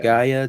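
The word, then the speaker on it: G'iah: and then the henchman goes out and tells Gaia is that how you say her name yeah Gaia to go on this mission to go get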